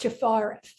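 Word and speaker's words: Tiphareth: going to go to number six which is pronounced stefara and in Hebrew that means Beauty and this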